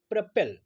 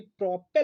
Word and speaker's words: propel: सो बढ़ते हैं आगे, लेते हैं अगला वो कैब, और हमारा अगला वो कैब है प्रपेल, PROPEL। ये प्रोपेल नहीं है, इट्स प्रोनाउंसिएशन इज प्रपेल।